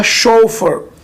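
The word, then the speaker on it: chauffeur: में बोलते हैं शॉप इसकी स्पेलिंग थोड़ी सी अलग है सी हा ए यू एफ एफ ए यू आर लेकिन इसका जो प्रनंसीएशन होगा वो होगा सो फॉर सो फॉर अब आगे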